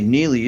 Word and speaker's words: Neely: And we should say Neely is Neely. Neely. Productions is spelled like it's normally spelled, and Inc.